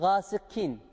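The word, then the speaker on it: غَاسِقٍ: Sonrasında gelen kaf harfimiz, burası da kef harfi gibi okunuyor. Gâsıkîn. Gâsıkîn. Bu da en çok yapılan hatalardan. Burası kef harfi değildir.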